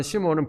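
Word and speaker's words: 시므온: 그니까 베드로의 순수한 히브리어이 발음이 시무온입니다. 그래서 여기가 여기서 말하는 시무온은 베드로고 베드로가 고넬리오 사건을 말한 것을 이제 야고보가 다시 언급하고 있는 겁니다.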